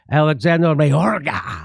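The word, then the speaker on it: Alejandro Mayorkas: And so this is the Secretary of Department of Homeland Security, Alexander Mayorga. I think that's how you say his name.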